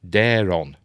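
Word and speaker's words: Daeron: and ticktockers please note Condell pronounces those names as craigan and Daron all right see I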